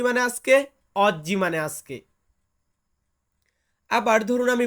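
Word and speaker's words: oggi: ইংরেজিতে যেটাকে বলি টুডে এটাকে আমরা ইতালিতে বলবো অজ্জি অজ্জি মানে হচ্ছে আজকে বলুন তো কি মানে আজকে অজ্জি মানে আজকে আবার ধরুন আমি বলতেছি এখন এখন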